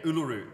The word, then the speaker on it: Uluru: Yeah, yeah, Uluru.